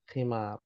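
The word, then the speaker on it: خمار: khimar.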